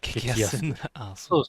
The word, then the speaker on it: 激安: It’s pronounced "激安" (gekiyasu).